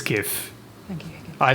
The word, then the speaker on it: GIF: that's actually not what's gonna happen people and pronounce it Jif it's gif thank you I say gif I say give